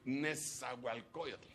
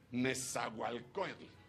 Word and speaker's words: Nezahualcóyotl: Dígame un lugar que cómo me cuesta pronunciar de aquí, porque lo ponen en lengua original. Nes. Tex. Tex. Caltic. Nezahualcóyotl. Nezahualcóyotl.